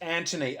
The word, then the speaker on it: Antony: It's Antony, Antony. O-N-Y.